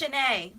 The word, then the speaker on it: Shanae: Her name is pronounced Shanae. So. Okay, my name. is pronounced Shanae. Okay, I said Shanae. Okay, because of the A on the end.